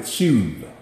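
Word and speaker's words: שוב: You pronounce it shuv, and it's translated to turn.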